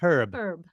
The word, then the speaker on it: Herb: You'd call him John Herb. Because there's an actual H in it and you should pronounce it.